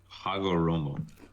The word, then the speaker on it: Hagoromo: It is Hagoromo. Oh, Hagoromo. I'm sorry.